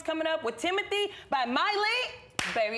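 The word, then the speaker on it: Mailee: ma il EE and my name is pronounced Miley not mainly Miley well I'm glad I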